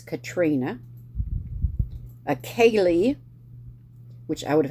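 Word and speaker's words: Caitriona: c-a-i-t was Kate and c-a-i-t-r-i-o-n-a was Katrina akali which I would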